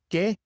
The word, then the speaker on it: que: So remember, in Spanish, the Q always comes with a U, just like in English, but the U is silent. Que, 15, aquí.